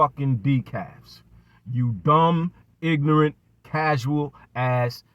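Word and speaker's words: DICAF: So, DEKAF, in case you need the definition, DEKAF, pronounced DEKAF, is an acronym coined by boxing YouTuber Dante Williams.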